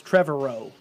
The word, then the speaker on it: Trevorrow: Colin Trevor, I think it's Trevorrow is how the name is pronounced.